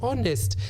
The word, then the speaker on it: honest: Good students, the word is read honest. The H there is silent. So John is very honest.